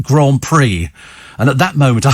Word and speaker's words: Grand Prix: straight face totally straight face but it says Grand Pricks and he goes yes but it's pronounced Grand Prix and at that moment I thought the entire